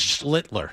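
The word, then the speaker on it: Schlittler: How do you pronounce Cam's name? It's Schlitler. Schlitler.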